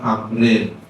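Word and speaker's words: عمرو: Tulisannya Umaru itu Umar, kalau ada waw setelah ro bacanya Amrin ya. Kalau gak ada wawnya nah bacanya Umar.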